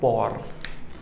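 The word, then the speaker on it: poor: तो पहली बात तो इसको पुअर नहीं कहते, this is called पॉर। The actual pronunciation of this word is पॉर, right, phonetics के अकॉर्डिंग।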